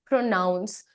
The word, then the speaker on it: pronounce: सो PRONOUNCE। तो जब तुम इसे एक एक्शन, एक वर्ब की तरह बोलोगे, then you are going to call it प्रोनाउंस।